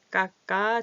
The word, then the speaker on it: 깎아: 이렇게 되죠 2,000 원이에요 까까 주세요 아어 주세요 했는데 여기서는 어떻게해요 까까 주세요 연다라 소리 나죠 아이들 꼭 과자 주세요